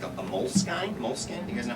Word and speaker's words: Moleskine: Moleskine? You guys know how you pronounce it?